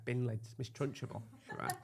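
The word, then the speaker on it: Trunchbull: Miss Trunchable. Trunch ball. You put in a third syllable in that now. You've always done it, and it's always annoyed me.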